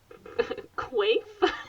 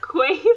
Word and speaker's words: Quaife: Meets Quaife? Quaife. My name is Quaife. Quaife? It's like a weird way of saying queef. A science. I was thinking quaff.